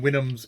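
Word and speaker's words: Houyhnhnms: The spelling on Winhams is Houyhnys, and that apparently phonetically is Winhams.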